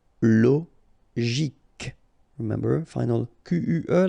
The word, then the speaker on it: psychologique: Normally we should pronounce it CHO, okay, but in that case we pronounce it CO. Psychologique. Remember, final Q-U-E like that, K. Psychologique.